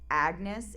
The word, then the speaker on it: Agnes: So first of all um I figured out that Agnes is supposed to be pronounced like Anus.